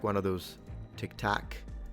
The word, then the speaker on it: Tic Tac: Is this like one of those Tic Tac, which is funny because it's spelled TAC, right? Tac, but it makes me feel like I'm saying TikTok with some kind of Northern American accent.